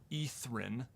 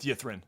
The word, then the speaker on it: Ythrin: the way i looked it up apparently it's pronounced etheren i've been pronouncing it wrong but i'm going to keep going with you yep i'm going with yathrin that's what i've been saying i ain't going